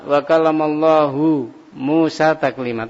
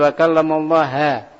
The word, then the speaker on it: wa kalamallahu Musa taklima: Dia tidak membaca wa kalamallahu Musa taklima, tapi membacanya wa kalamallaha, pakainya fathah. Ini sudah berbeda.